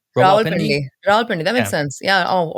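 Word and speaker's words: Rawalpindi: going to mispronounce these I'm here to fix that pronunciation it's a raal pendy ra pendy that makes sense yeah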